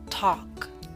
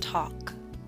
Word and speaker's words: talk: yawn boss taught gone talk note the L is silent and talk now I wish to